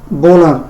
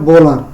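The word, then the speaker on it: Wöhler: ওনার নাম হচ্ছে Friedrich বোলার। কেউ উলারও উচ্চারণ করে থাকে, যেহেতু উনি জার্মান, জার্মানিতে ডব্লিউ এর উচ্চারণ হচ্ছে কি ব, এজন্য ওনার প্রকৃত উচ্চারণ হবে বোলার।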